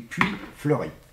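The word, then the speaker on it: Puits Fleuri: Oui, du Puy Fleuri.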